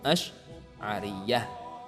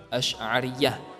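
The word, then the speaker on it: Asy'ariyah: ahlussunnah Waljamaah juga sering disebut dengan kaum azharyah asyariyah bacanya seperti itu ya ia merujuk kepada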